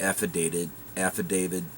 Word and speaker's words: affidavit: refused to leave, the affidavit states. And I know I'm probably putting a D at the end of that, but it's actually a T. So, my bad in pronunciation.